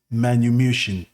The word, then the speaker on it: manumission: what I was talking I was pronouncing it incorrectly but it's called meritorious manumushion okay meritorious manumushion our Elder